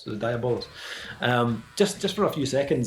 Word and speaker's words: Diabolus: How do you pronounce that? Diabolus. Yeah. Diabolus.